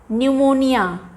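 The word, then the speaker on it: pneumonia: Funny, न्यूमोनिया, PN का क्या sound आ रहा है न, न्यूमोनिया।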